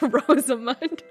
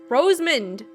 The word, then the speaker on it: Rosamund: Long live Rosamund. Rosamund? Rosamund! Is it Rosamund? No. Because it's Rosa. It's like an A in there.